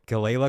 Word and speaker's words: Galayla: It's the the G gala collective.